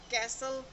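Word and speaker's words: castle: कुछ English common words हैं जिसमें टी जो है वो प्रोनाउंस्ड नहीं होता। Like कैसल, Christmas, fashion, listen, often,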